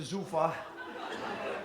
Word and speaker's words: Zufa: That's my math teacher, Mr. Zufa. Rhymes with loofah, so you can remember.